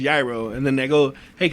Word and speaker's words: gyro: like what i'm doing i order a hero but it's pronounced gyaro and then they go